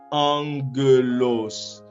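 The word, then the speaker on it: ἄγγελος: de voir, eh bien, nous allons lire le premier gamma comme si c'était un nu, et un N dans l'alphabet latin. Eh bien, on va lire la première syllabe comme en. Vous voyez? En. On continue et puis on va lire la deuxième syllabe ge. La deuxième syllabe ge. Et puis on poursuit avec la dernière syllabe qui est los. Eh bien, ça fait angelos.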